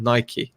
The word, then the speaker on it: Nike: Nike, not Nike. Say it right.